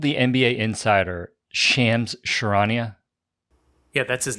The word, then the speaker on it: Shams: called the NBA Insider shams sharanya yeah that's his name yeah bro it's not Shams it's shams if you're covering Sports you should probably know how to say his name correctly oh yeah well I'm